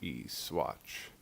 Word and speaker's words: Saguache: It's spelled S-A-G-U-A-C-H-E, Swatch, of course.